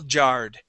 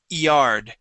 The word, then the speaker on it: yard: uh small yard okay here it sounded like you pronounced that y like a j sound saying small jard all right so here we want to say small yard try that please small